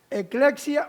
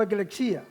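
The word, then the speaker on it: ἐκκλησία: una palabra griega que se pronuncia algo así como eclexia o eclexía.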